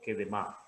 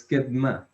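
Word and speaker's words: קֵדְמָה: Entonces, Kedma, ¿es Kedma o Kedema? Listo. Sí, es ketma.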